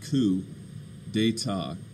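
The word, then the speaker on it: coup d'état: or enough um so coup d'etat this word here ku c-o-u-p it's pronounced ku de ta okay um and in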